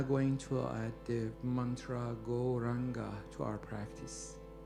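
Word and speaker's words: Gauranga: We are now going to add the mantra goranga to our practice. Goranga has four syllables.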